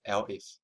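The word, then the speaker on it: elif: This one is L if pronounced as L if actually means else if.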